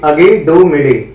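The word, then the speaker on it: Aiguille du Midi: इसकी correct pronunciation है अगी डू मिडी, और ये माउंट ब्लैंक।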